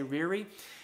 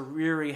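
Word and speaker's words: Ryrie: i'm mispronouncing that name it's r y r i e rear i'm going to say riri he is a professor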